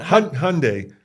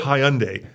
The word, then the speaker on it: Hyundai: that's a good one Hyundai like Sunday let's go back to not hunde let's go but it's